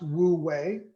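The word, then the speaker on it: 无为: theme of Taoism is is in Chinese it's pronounced Wu way now it's been incorrectly translated into English for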